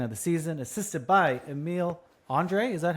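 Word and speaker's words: Emil Andrae: Tyson Forrester scores the first goal of the game, second of the season, assisted by Emile Andre.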